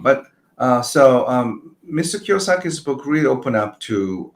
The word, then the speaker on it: Kiyosaki: Yeah, it's in Japanese it's Kiyosaki. Kyosaki means uh pure or clean uh ribba. Um but uh so um Mr. Kiyosaki's book really open up to um uh another world too.